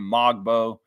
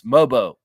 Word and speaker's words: Mogbo: was the main Celtics the announcers don't not have the phonetics of Jonathan's name they kept calling him mogbo was annoying the hell out of me annoying the hell out of me mogbo MBO gets the rebound mogbo MBO it's mobo you gotta learn that